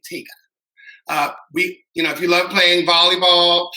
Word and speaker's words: TGAA: Actually, that's the Tallahassee Gay Athletic Association, pronounced TGAA, TIGA.